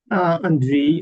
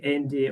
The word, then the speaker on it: Andriy: The next one is Andriy. Do I pronounce it correctly? Andriy, I'm Ukrainian, but American Ukrainian. But anyway, yeah, you can call me Andy or Andrei or Andriy.